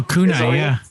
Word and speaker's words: Kunai: Kunai? Oh, Kunai, yeah, Kunai.